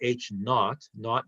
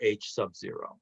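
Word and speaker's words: H₀: And we can either call it H naught means zero, or H sub zero. That's typically how people pronounce that.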